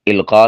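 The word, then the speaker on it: القاء: तो यह दुरुस्त इसकी अदायगी इलका के साथ है।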